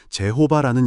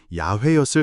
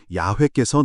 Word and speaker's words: YHWH: 중세에는 이 4자음 사이에 아도나이의 모음을 끼워 넣어 제호바라는 이름이 등장하게 되었지만 이는 인위적인 조합일 뿐 원래의 발음은 아닙니다. 오늘날 다수의 학자들은 원래의 발음이 야훼였을 가능성이 크다고 보고 있습니다.